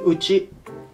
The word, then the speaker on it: 内: And the first, this letter, it's pronouncing Uchi.